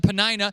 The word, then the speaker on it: Peninnah: Elkanah had 2 wives, Hannah and Peninnah. You might want to say Peninnah or Panera. I don't know how you want to say it, but I choose to pronounce it Peninnah.